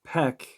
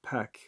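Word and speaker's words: Pek: from the Mexican Yucatan area uh way which is spelled h-u-a-y means sorcerer or animal familiar and Peck means dog but there's actually a little more meaning to the second word Peck p-e-k so Peck although seemingly Peck may seem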